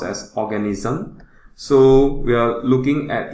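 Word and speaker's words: Oganesson: this new element that was synthesized in 2006 pronounced as organism so we are looking at the calculation we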